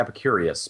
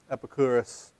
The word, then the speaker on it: Epicurus: his name epicurus or I always want to say Epicurious but it's just us at the end I don't know how to pronounce EP epicurus epicurus it feels weird saying